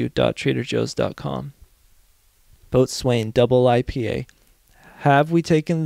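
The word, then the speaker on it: boatswain: first a quick tutorial a boat Swain oh God pronounced bosen oh at least they're finally telling me how to pronounce things a bosen pronounced bosan is an unlicensed member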